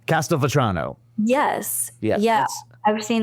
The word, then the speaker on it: Castelvetrano: Yeah, I can't pronounce this, but it was the first olive that you said. Castelvetrano.